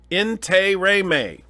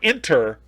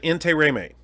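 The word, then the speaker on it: Intiraymi: it right yeah you did mano ante remain in Turay may that's how he pronounced it not inter int he man who himself pronounced it in Terry mate and so so that's why I'm trying to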